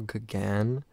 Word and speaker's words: Gauguin: It's pronounced Paul Gauguin. He butchering it really bad.